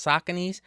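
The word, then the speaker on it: Saucony: Sheltos, Reebot Classics, Sakone, even though I know it's pronounced Sakin, but Sakone, it just it just it it's a better it's it's a better pronunciation of the word.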